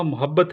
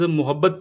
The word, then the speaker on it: محبت: اس کے علاوہ اسٹوڈنٹس، آج کا ٹاپک تھا لیکچریٹ کا، میرا شیوا محبت ہے نفرت نہیں. لفظ محبت پہ میم پہ پیش نہیں ہے، لیکن اور فہام میں